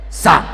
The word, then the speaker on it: Psalm: Psalm.